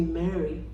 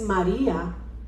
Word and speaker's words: María: Mi nombre es María, con acento en la I. María, to be more specific. It's not Mary or Mariah. Es María. I need you to stress the I for me.